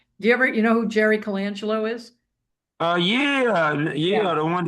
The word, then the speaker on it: Colangelo: Jersey and I said, how do you say this name? And she said, Colangelo. Yeah. That's how Italian people would say it.